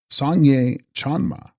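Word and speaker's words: སངས་རྒྱས་སྤྱན་མ: Here the block print, evidently in error, contains in Tibetan Sangria Spayama, pronounced Sangye Chanma, meaning she of the Buddha eye, who in our manuscript text comes with Ratna Sambhava on the third day.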